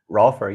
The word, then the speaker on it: Rolfer: Jeff is a Rolfer. Did I pronounce that correctly? Rolfer, yeah.